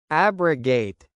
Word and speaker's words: abrogate: Abrogate, pronounced as ab-ro-gate, meaning to cancel officially.